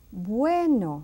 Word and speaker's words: bueno: Now comes the soft B. Bien, which is good. Blanco, white. Bueno, see how soft I say bueno now.